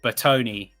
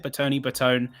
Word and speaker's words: Bertone: It was the can't remember the Bertoni. Is that how you pronounce it? Bertone.